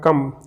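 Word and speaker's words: comb: letter हमारे पास में कम कम है ना तो ये जो कम जो आ रहा है इसमें साइलेंट लेटर क्या है हमारा बी ठीक है इसी तरीके से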